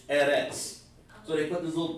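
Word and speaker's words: ארץ: Like in the Jewish language, the fake Jews, this word right here, earth, they would call that Eretz. Eretz. It doesn't, but that's how they pronounce.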